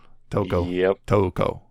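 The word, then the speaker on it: Tōko: Toko. That's right. Because that's the thing. It's Toko. You have to do this weird thing that you barely pronounce the U. It's almost like you're elongating the O.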